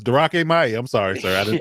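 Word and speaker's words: Drake Maye: It's Darake Mai. I'm sorry, sir. I mispronounced his name.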